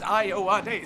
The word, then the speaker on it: Ayowade: African, it's, if you look at a lot of African names, you pronounce, an English speaker pronounces all the letters exactly.